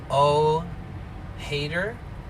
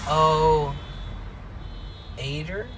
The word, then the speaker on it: OH8R: So you could pronounce it however, O hater or O aider. Either way, I loved that 4-letter name.